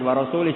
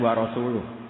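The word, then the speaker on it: وَرَسُولُهُ: Wa rasulih juga nggak ngurus Rasulnya. Kalau sama Rasul saja tidak ngurus, apalagi sama kita. Bersama Sayyidina Ali dibenarkan yang benar bacanya itu wa rasuluh.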